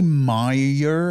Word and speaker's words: Mayer: Wait, don't they say Meyer? How do you well, say that's Oscar the thing. Meyer. It doesn't fucking matter because it could be pronounced the same way with either spelling, and M-E-Y-E-R is a more common name than M-A-Y-E-R.